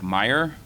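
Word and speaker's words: Mayer: first from Deputy special agent in charge Derek Meyer it's uh pronounced Meyer it's spelled m a ye R Derek is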